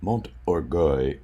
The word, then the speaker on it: Mont Orgueil: this Castle here or Mont oroy is the English pronunciation of this castle and it has a